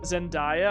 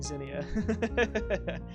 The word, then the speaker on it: Zinnia: I sometimes read it and I'm like, Zendaya. I'm like, What do you mean Zendaya? It's like, oh yeah, you're saying Zinnia.